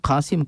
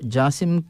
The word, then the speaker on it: قاسم: یہاں پر جو ہے خلیجی ممالک میں عام طور پر قاف کو جو ہے جیم سے تبدیل کرتے ہیں، اسی لیے جو ہے قاسم کو جاسم کے الفاظ سے جاسم کا جو ہے تلفظ استعمال کیا